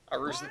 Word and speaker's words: Aroostook: that's how you pronounce it. Aroostook.